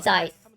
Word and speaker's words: Zeiss: Zeiss, not Zest.